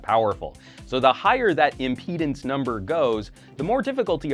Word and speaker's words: impedance: is the resistance or impedance I used to pronounce that impotence but that sounds like a completely different kind of problem impedance is measured in ohms